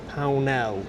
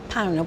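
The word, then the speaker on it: Pownall: And I think you pronounce it Pell. Pell. P O W N A W L.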